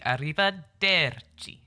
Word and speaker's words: Arrivederci: Arrivederci. She pronounced the der, because that's the second to last syllable. Oh yeah, see you soon, senora. Arrivederci.